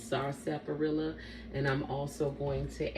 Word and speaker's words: sarsaparilla: Now, you might hear a lot of people call this Indian sarsaparilla, but it's the actual pronunciation is sarsaparilla.